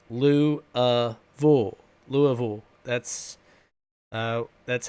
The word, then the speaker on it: Louisville: Louisville no it's it's not pronounced Louisville it's pronounced loo bull Louisville that's that's how we pronounce it Louisville